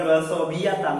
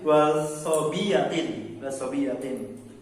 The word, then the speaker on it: wasobiyatin: Bukan wasobiyatan tapi wasobiyatin.